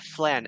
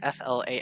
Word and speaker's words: flan: n oh fla oh it's pronounced fla yes oh no way oh my for the past 20 years I've been calling it FL oh poor guy oh